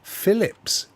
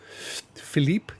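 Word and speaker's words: Philips: Phillips or as it should be pronounced they're French Philip Philipe JVC AOC now those brands we have so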